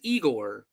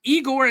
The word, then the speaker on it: Igor: absolutely nothing Joe Neola plays eagor which it kind of bothers me too because it's it's eigor in the lunatics is spelled with an i but his name is spelled with a y yeah I was wondering